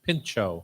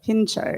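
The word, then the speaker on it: pintxo: a bar in the rioa region and pincho is spelled p i n txo pincho pincho it doesn't in here we wouldn't necessarily pronounce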